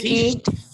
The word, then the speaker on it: finished: Finished. Finished. D. It's T. It's definitely T.